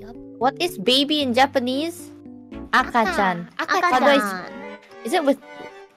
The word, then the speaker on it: 赤ちゃん: Akachan.